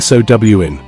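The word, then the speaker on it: Samhain: Sam Hayne, the name is Irish, pronounced roughly sow in, the mh in Irish, producing a w sound.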